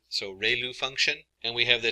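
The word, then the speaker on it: ReLU: We have the ru is pronounced like ray the ray of from the sun and lu like a name. So ru function.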